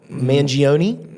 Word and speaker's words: Mangione: How do you pronounce his name? Luigi Mangione.